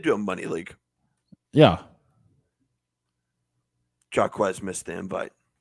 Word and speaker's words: Jaquez: Jaquez missed the invite. That's Jay. We've been over. That is Jay, not Jack.